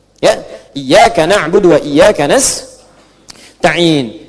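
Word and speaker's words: نستعين: Iyaka na'budu wa iyaka nastain. Ada yang baca pakai kasrah nistain ya. Nistain ini bacaannya dari Bani Asad, Rabiah, dan Bani Tamim. Tapi kita baca harus menggunakan fathah kalau untuk kita ya.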